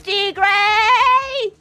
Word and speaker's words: Tigre: Translate tiger from English to Spanish and hear the pronunciation. Alright. Let me do that. Tiger and a Spanish. It really is Tigre!